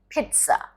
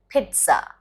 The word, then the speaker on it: pizza: you stress on the me information pizza it's pizza pizza there's a sound of tea that comes pizza